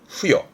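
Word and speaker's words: 付与: 발음은 후여.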